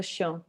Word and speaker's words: chien: And disons c'est pas chien, you don't say chiens, right? It's Chien, chien. Chien.